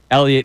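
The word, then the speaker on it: Heliot: Elliot, even though it's spelled H E L I O T.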